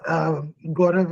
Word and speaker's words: Gaurav: Yes, Gaurav is the correct pronunciation.